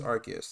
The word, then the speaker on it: Arceus: But Pokemon Legends Arceus, that's how you say it, came out recently.